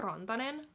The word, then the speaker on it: Rantanen: So Mikko Rantanen.